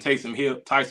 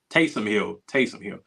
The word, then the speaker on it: Taysom Hill: you got Kamara and Tyson Hill, who, or am I saying it right? Taysom Hill, with his gadgetry and